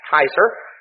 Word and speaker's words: Caesar: We pronounce it Caesar. Actually, the Latin pronunciation was more like Kaiser. That would have been more the way that the ancient Romans pronounced it.